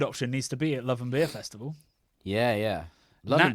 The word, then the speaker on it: Love & Beer: put to bed the people that call it loving beer loving beer which is the way we pronounce it we apologize but uh yeah it's love and beer is how we things yes cuz we're all